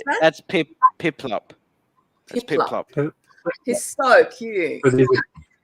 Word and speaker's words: Piplup: Actually, it's Pillip. I think I'm not very good at pronouncing it. Yeah, Pokemon names are weird. Which one is it? The blue penguin? Yeah. How do you pronounce that? That's Piplup.